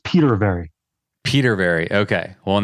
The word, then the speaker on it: Petervary: pronounce your last name is it pet very or Peter very yeah just like it's it's spelled Peter very Peter very okay well